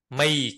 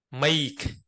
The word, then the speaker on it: make: nối nối nhuyễn đâu A có nghĩa là âm e trước âm I sau e a make make bạn nào đọc là m m là đọc không đúng đâu đọc đọc đọc bị sai đó nó không chuẩn make và chữ A